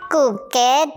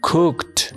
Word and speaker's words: cooked: Sí, Guillito, pero no se pronuncia cooked, se dice cooked.